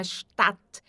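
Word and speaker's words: Stadt: Então s antes de t sempre vai ter som de xat. E o a sempre vai ser bem aberto. Nunca vai ser um que nem a gente costuma fazer no português. Nunca vai ser. Então é stat e termina em t.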